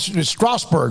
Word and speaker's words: Strasbourg: Ish, good luck with Strasbourg, right? Is that how you say it? Yes, sir.